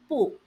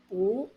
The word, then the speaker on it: 不: 不, fourth tone, 不, second tone, 不, neutral tone. So when should you use the fourth tone, second tone, or neutral tone? 不 is pronounced in the fourth tone when used alone.